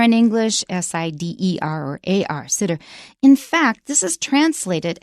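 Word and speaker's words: sidr: tree okay this is the sitter tree and it's spelled s-i-d-r you can see that it comes from Arabic there's no vowel in front of the r s i d r we would put an e there in English s-i-d-e-r or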